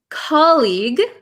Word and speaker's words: colleague: okay uh what's the difference between between um colleague colleague so colleague is someone you work with